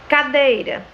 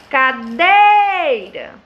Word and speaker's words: cadeira: Quando eu digo cadeira, cadeira, qual foi a sílaba tônica? O dei.